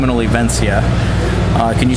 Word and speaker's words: Olivencia: the doc and oliven oh did I say that right no it's olivencia uh can you spell